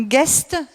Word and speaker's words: Guest: Ensuite, nous avons Bertrand Guest, c'est comme ça qu'on prononce, ouais.